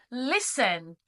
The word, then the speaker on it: listen: Listen. We don't say the t. The t is silent.